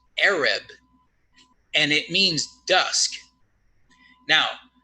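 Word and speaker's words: ערב: her evening here is the word Arab it's pronounced Arab and it means dusk now those of you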